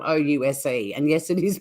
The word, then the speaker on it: Ouse: We've got a town in Tasmania called Ouse, and it's spelled O-U-S-E.